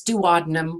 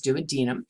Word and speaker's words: duodenum: a denim now some people are going to pronounce this duodenum we're not gonna argue with them but technically the pronunciation is duodenum the jejunum which is the middle part and